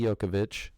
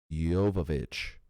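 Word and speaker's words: Jovovich: haven't seen it mili yokovich see it's j-o-v-o i c h so it makes me sound like i should say yovovich but i'm pretty sure i've heard it pronounced yokovich i'm going to keep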